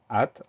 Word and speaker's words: hâte: Donc, il faut photographier ce mot-là, parce qu'on a cette lettre muette, le H, suivi du A accent circonflexe. Dernière syllabe, te, te, tout va bien. C'est le début du mot qui peut poser problème. Hâte, H, AE accent, H, accent circonflexe, pardon, TE.